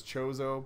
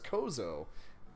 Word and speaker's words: Chozo: so like it makes sense that the official pronunciation is chozo but for some reason i always run it as kozo and it kind of sounds cooler I think